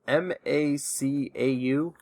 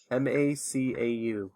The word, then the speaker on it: Macau: or territory I think it's near China it's m-a-c-a-u -m-a-c I'm sorry what's called a u m-a-c-a-u how do you pronounce it I would pronounce that Macau Macau